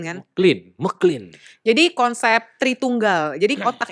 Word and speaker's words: MacLean: Bacanya MacLean kan? MacLean.